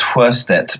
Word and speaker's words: Sjöstedt: I mean, really, it's pronounced Sjöstedt, but that's even more difficult. But to think of it just as Sjö and then Stedt. Okay, Sjöstedt. Yeah, exactly. The H at the end is silent.